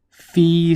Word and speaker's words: Phi: alpha and beta or fee slash Phi depending on how you pronounce it so those are